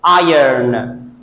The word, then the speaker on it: iron: Maybe some of you pronounce it correctly, but this is iron. Iron. The wrong pronunciation of this word might be iron or iron. False pronunciation, you have to say it iron.